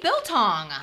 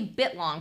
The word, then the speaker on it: biltong: you go oh beef biltong just in time for camping built bilton do i say i never say it right i always say bit long but it's biltong it's built i actually